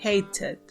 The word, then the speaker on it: hated: también la pueden pronunciar la t usualmente se pronuncia como una r pero ustedes la pueden pronunciar también con la t hated hated hated este verbo